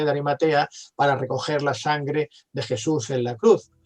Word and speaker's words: sang: de Occitania, occitano, que la sangre se escribe como sang, S-A-N-G, sang, de sangre, sang, escribe así, se pronuncia así, y real, sangre real, es reial.